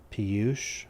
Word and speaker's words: Piyush: So it's an Indian name. It's pronounced something like Piyush. Oh, nice. Piyush.